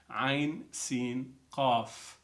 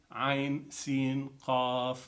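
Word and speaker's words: عسق: The letters are connected also, but they're pronounced separately. Ain, Sin, Qaf. In other words, Ha, Mim, Ain, Sin, Qaf.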